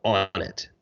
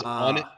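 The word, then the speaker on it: Onnit: Joe took a stake in a company called on it do you know this company Andrew the supplement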